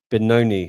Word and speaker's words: Benoni: So, it was um you're donating 20% of the purse to Kids Haven Benoni. Have I pronounced that right?